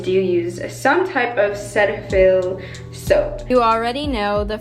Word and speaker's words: Cetaphil: day by the way I know the correct pronunciation of this cleanser is Cetaphil but I say Cetaphil and